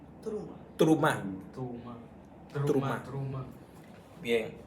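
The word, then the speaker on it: תרומה: se llama te terum terumá terumá pero en hebreo es truma truma trum trum truma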